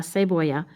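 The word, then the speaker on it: cebolla: okay let's try again onion is la se voya remember double l equals y la say boya if you want to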